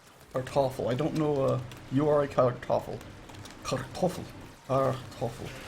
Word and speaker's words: Kartoffel: The R's are not very well pronounced in German, last I remember. That's what my, not necessarily not well pronounced, but they're more of a roll than just a R or a it's back in the more of the back of your throat, according to my German teacher years and years ago.